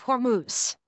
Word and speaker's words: Hormuz: didn't I my apologies the straight of hormuse not hermouth I don't know why